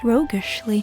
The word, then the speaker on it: roguishly: She smiles roguishly (pronounced roeg-ish-ly) and pushes something round, small and hard in